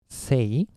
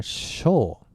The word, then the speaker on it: 青: moon like that okay Chinese sty rating is say or show well this is a